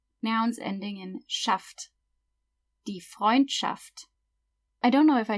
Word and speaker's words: Freundschaft: ST is pronounced st, and SCH is pronounced sh. So that means friendship, Freundschaft.